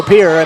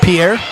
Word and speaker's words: Pierre: Well, and I liked your dark horse as well, Pierre.